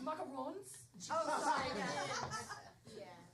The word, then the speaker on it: macarons: It's pronounced macarons. Oh, sorry. Yeah, macaroons.